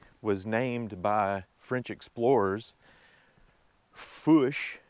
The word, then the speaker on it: Fourche: named by French explorers fush being the French word for fork as in fork in the road as a dividing split and that's where we get the name spell it f o u r c h e the r being silent few fish down there